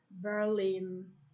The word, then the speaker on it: Berlin: university weak and earthwhile some place names which have main stress on the last syllable such as berlin column montreal team numbers 13 19 and